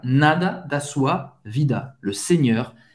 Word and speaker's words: Seigneur: Em francês, le Seigneur, EU em francês tem o som do E bem fechado. Seigneur, Seigneur.